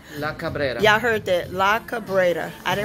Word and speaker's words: La Cabrera: You guys, I'm here at this new restaurant here in Miami, Florida, and it is called, how you pronounce it again? La Cabrera. La Cabrera.